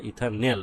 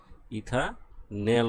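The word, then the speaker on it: ethanal: aldehyde ইথাইলডিহাইড ইথাইলহাইড বা ইথানেল অ্যালডিহাইডের শেষে কি উচ্চারণ করা হয় নেল তোমরা ইথাইলডিহাইডও বলতে পারো আর ইথানেলও বলতে পারো কি বলতে পারো ইথান নেল বলতে পারো ঠিক আছে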